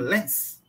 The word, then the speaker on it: Lenz: A pronúncia é essa mesmo, Lenz?